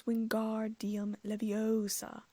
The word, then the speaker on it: Wingardium Leviosa: it wrong Hermione snapped across the room it's Wingardium Leviosa make the car nice and long you do